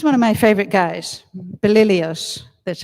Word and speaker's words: Belilios: Now, he's one of my favorite guys, Belilios, that's how you pronounce it.